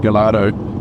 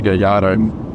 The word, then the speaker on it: Gallardo: When you see the name of this car, it's easy to think it's pronounced Gallardo due to the L, but in Italian the double L is actually pronounced as a Y, so the correct pronunciation is a Gallardo.